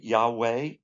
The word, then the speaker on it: Yahweh: foundation of the world now how do we pronounce this you can say Yahweh because the valve and the wall the W